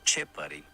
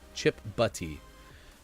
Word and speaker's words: Chip Butty: Chip Buddy. The Chip Buddy. B-U-T-T-Y. Chip Butty.